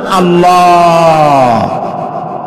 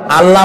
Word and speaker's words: আল্লাহ: আল্লাহর নাম আল্লাহ, বলেন তো? আল্লাহ নয়, কিন্তু আল্লাহ হচ্ছে অশুদ্ধ, শুদ্ধ হচ্ছে আল্লাহ। বলার সময় মুখটা গোল হয়ে যাবে।